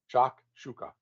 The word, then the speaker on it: shakshuka: Shakshuka. Like No, shock. I don't. S-H, yeah, if you phonetically SHOCK, SHUKA, shuka. Shakshuka. That's not how it's spelled.